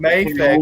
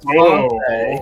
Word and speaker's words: Mafex: Because I keep getting it's not Mafex, it's Mafex. It's not Mafex, sir. There's no hyphen. It's Mafex. Okay, Mafex. Wrong, no matter how you pronounce it. The people at Mafex say Mafex.